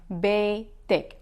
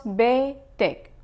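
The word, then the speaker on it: بيتِك: are telling him your, you will say ak, like betak. If you are talking to a woman, you will end it with ek, like betek.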